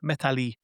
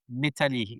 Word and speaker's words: Methalie: And then Medali, like metal, but with a harder T.